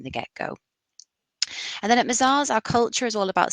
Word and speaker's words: Mazars: So we're founded in Europe, so we are a French firm, and actually Mazars is pronounced without the S. That's a little silent tip.